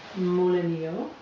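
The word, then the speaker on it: molinillo: tools to do this the first is amolo pronounced moleno and it is an authentic Mexican tool designed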